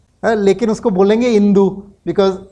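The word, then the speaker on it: Hindú: Par Hindu ko Indu bolte hai kyuki H silent hai. So L A C O M I D A H I N D U Lekin usko bolenge Indu because H Spanish language mein silent hai.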